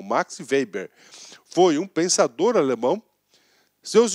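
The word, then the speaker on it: Weber: tomar que se vender olha pronúncia bôla de novo max veiber max weizer web não é em inglês da gente ele é alemão max vp foi um pensador alemão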